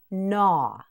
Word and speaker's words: gnaw: This word also has a silent g. It is pronounced naw.